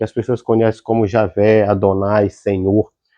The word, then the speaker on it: Adonai: então eles vão eh usar a regra querer que eles vão pronunciar Adonai que para nossa tradução